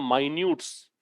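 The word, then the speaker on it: minutes: देखो इसके दो उच्चारण होते हैं। एक होता है माइन्यूट्स।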